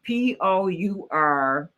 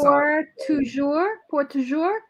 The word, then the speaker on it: Pour Toujours: Pourtoujous. It's a French name. That's pour toujours, forever.